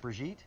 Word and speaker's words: Brigitte: It's pronounced Brigitte?